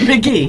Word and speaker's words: McGee: McGee. Oh, I said Haley. No, Gee. Like Ma, and then Gee.